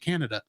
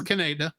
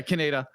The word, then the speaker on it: Kaneda: They like he's or as I still pronounce it every time I see it, Canada. It'll be like he's morphing into that enormous blob. Yeah, that was Kaneda. Yeah, Kaneda.